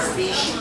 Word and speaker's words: species: So like here, we talk about what kinds of animals they are, you use the word species. 所以这地方的发音要注意一下，跟 special 一样，c i 这地方发 sh 可以的。Okay, so here's the one thing about species.